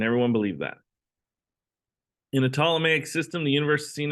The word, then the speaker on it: Ptolemaic: later known as the ptolemaic system the p is silent this model was geocentric